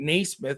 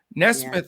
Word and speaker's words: Nesmith: white pritchard tice or nesmith i mean naysmith whatever nesmith i think is the way it's pronounced but since james naismith invented basketball but so again one